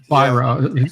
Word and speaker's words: Weirauch: You spell it WEIRAUCH. I've always heard you call it Viral. That's what other people say. The W, they're pronounced like a V. I was looking at Nibs's pronunciation over in the side chat, and he says viral. Yeah, it's spelled WEI, way, then RAUCH. Yeah.